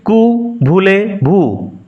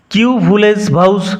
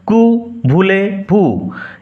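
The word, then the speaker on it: Que voulez-vous: কু ভুলে ভুই রিপিট কু ভুলে ভু কিউ ভুলেস ভাউস এরকম উচ্চারণ হবে না। এটা ফরাসি উচ্চারণ কু ভুলে ভু এর অর্থ হচ্ছে এর আক্ষরিক অর্থ হোয়াট ইউ ওয়ান্ট তুমি কি চাও?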